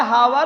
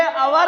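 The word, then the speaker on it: hour: अब कहोगे सर जी यस से शुरू है, हावर हो चाहिए का? नहीं, ये हवर नहीं, ये अवर है। अवर माने घंटा, तो यहाँ ऐन अवर लिखा जाएगा क्योंकि यच यहाँ पर साइलेंट है।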